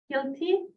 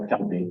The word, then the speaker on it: Kelty: Today is with us Kilty. Did I pronounce it correct? Oh, Kelty, but Kelty.